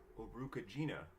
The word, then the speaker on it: Urukagina: and earliest known lawmaker Urukagina, whose name rhymes with vagina if you want it to, or possibly by Enmetena, 2 centuries before the first female author, Enheduanna.